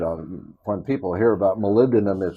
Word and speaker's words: molybdenum: when people hear about molybdenum it's one of those things that few people can can pronounce right they usually say molly bd or molly be damned uh how does that